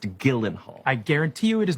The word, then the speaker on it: Gyllenhaal: Your name is pronounced Gyllenhaal.